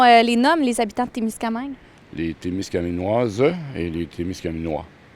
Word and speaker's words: Témiscamingue: mais il y a des gens qui disaient Témiscamingue au lieu de Témiscamingue. Mais c'est quoi la vraie et bonne prononciation? Ce qu'on me dit dans les anciens, c'est que c'est Témiscamingue.